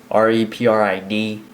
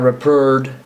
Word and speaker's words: Reprid: So, hello, my name is Eric Reprid. R-E-P-R-I-D. Not Reprid, not Reprid, not retard, Reprid.